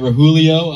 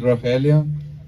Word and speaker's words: Roel: our privilege to invite rulio up next I didn't say his name properly but there's a role in the r that I can't do maybe he'll say it